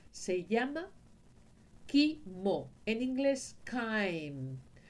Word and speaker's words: chyme: voy a decir, pero confunde el sonido de una campana, tañir una campana, eso se dice en lugar de chyme, que es lo que debería de decir, lo llama chyle.